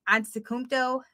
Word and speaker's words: Antetokounmpo: I always mess up his last name, but Antetokounmpo, I believe is how you say it.